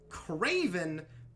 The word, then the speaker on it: KR4V3N: this one written out because it is Craven, but it's spelled like that. It is KR4V3N, a Terminator-esque alternate version of Craven the Hunter.